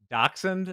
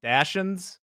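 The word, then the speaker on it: dachshund: Dude, I think they're making fun of uh so I used to mispronounce Dachund. I used to call them Dashins.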